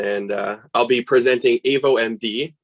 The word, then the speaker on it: avoMD: uh i'll be presenting avo md is uh the way to pronounce it and we're the next